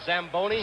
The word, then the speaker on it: Zamboni: how dry it is it's italian you should have pronounced it what does it call a zamboni zamboni machine and joe you